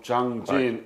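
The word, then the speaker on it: Jangjin: few in parenthesis because chosen few is japanese pronunciation of zhang jin in chinese character and korean government cannot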